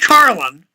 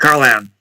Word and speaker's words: Carlin: a tape by George Carlin sick s i k c because they spell his name wrong it's c c a r l i n not c r l like here it's Carlin not caran entitled eight words you